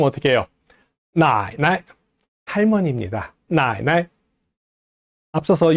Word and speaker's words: 奶奶: 근데 이걸 가끔 나이나이라고 사음절로 발음하는 사람들이 있습니다. 나이나이 하면 안 돼요. 나이나이라고 발음해야 됩니다.